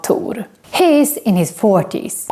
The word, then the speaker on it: Tor: of the movie thor in swedish we say tur and not thor and we don't write